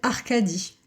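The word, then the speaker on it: Arcadie: euh qui s'appelle Arcadi euh comme ça se prononce A R C A D I E.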